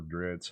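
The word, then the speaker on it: Drizzt: This Drazit is awesome. Or Dritz, however you want to say it. I say Drazit.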